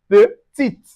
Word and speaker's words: petite: Also we have petit. Petit. But in the feminine, when there is an E we say petite.